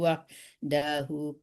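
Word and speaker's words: وَحْدَهُ: bi annahu idza du'iyallahu wahdahu kafartum. Wahdahu panjangkan hunya.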